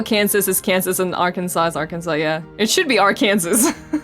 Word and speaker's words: Arkansas: Wait, Nitty, how do you pronounce Arkansas?